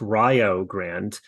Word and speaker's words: Rio Grande: Shawnee State formerly of Rio Grande yes it's Rio Grande Ryo rhymes with Ohio and that's important for